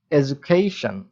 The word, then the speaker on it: education: এরপরে স, ন, এবং মেজর স্ট্রেসটা কোথায় রয়েছে? খেইশন। তার আগে কি আছে? এডুকেশন। তাহলে কি দাঁড়াচ্ছে? এডুকেশন।